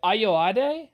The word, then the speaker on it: Ayoade: Richard Ayoade, I think is how you pronounce his name.